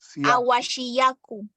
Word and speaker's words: Ahuasiacu: teach us how to pronounce the word of the Cascada Ahuasiacu? Awashiyaku.